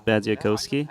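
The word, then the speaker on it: Badziakouski: at any given moment foreign have we been pronouncing it incorrectly the whole time he told me it was bad zakowski but he also told me I don't really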